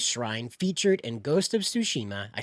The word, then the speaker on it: Tsushima: Japanese shrine featured in Ghost of Tsushima.